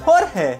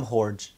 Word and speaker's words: Jorge: Oh, Jorge here. The amount of times my name will be mispronounced will be insane. Cause how hard is it to pronounce Jorge? You can even pronounce it as George.